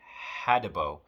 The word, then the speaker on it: Hadibo: me a photo of these weird trees in hadibo hotel alpha delta india bravo oscar hotel that's how you spell it hadibo uh is an island off of